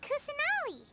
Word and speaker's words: Kusanali: Do you think she's supposed to be Greater Lord Rukkhadevata or Lesser Lord Kusanali? The lolly. She even rhymes with lolly.